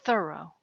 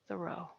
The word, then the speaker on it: Thoreau: should at least know the right way to say the guy's name it's thorough it's not the row leads us to number